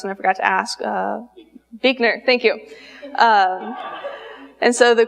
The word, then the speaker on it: Buechner: She liked to use a quote by theologian Frederick, I'm not exactly sure how to pronounce this, and I forgot to ask, Buechner, thank you.